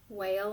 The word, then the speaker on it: whale: it's called the whale whale has a long a doesn't it and a silent E so we hear the a bull whale Austin okay